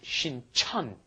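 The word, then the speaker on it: 신천: One is Shincheon, one is Shinchon. Yes. The one by Yonsei University is Shinchon, and the one by Jamsil down south, that is Shincheon.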